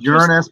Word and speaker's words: Uranus: Actually, it's pronounced Uranus, but that's funny because we can always say, you know, it's always swamp gas coming out of Uranus.